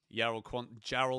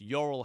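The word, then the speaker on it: Jorrel: Jarl Quantza. Jarl? What am I on about? It's Yorel Hato, I think, but that's Dutch pronunciation.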